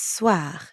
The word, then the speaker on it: soir: And the second part is soir. That means evening. Soir. The end sound is kind of like saying ah at the dentist. Ah, soir.